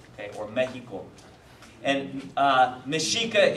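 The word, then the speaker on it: Mexica: um mishika um the mishika were the indigenous people of the northern region of what you would now know as as Mexico okay or Mexico and uh mishika is spelled me X IA okay and this is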